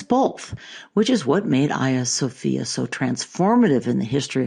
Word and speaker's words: Hagia Sophia: So for nearly 1,000 years, Hagia Sophia, that by the way is the Greek pronunciation, was the largest cathedral in the world.